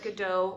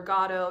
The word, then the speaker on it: Godot: doing a scene from Waiting for Godot or Gatto depending on where you're from Oh Frick yeah well American say it one way and British say it another way I learned recently